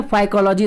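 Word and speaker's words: Phycology: फाइकोलॉजी की spelling ध्यान से देखिएगा, जैसे आप साइकोलॉजी पढ़ते हैं उसी तरीके से यहाँ पे पी साइलेंट रहता है, PHY ध्यान रखिएगा। फाइकोलॉजी इसको पढ़ा जाता है।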